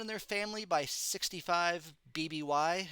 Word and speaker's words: BBY: Said to have murdered everyone in their family by 65 BBY. I pronounce it BB, like baby.